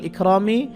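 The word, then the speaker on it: إكرام: আলিফ মিম সেরমি ওয়াল ইকরামি তো এখানে চিহ্ন আছে আমরা এখানে করলে মিম সেকেন্ড হবে উচ্চারণ হবে ইকরাম তো এখানে আমরা করব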